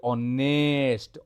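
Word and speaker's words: honest: খালি গতকাল দেখিবা আই ওয়ান্ট কিন্তু উচ্চারণ হ অনেস্ট র উচ্চারণ অনেস্ট র উচ্চারণ আই ওয়ান্ট আনঅনেস্ট অপিনিয়ন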